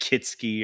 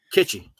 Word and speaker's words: kitschy: It kitsky or kit kits. Kitschy.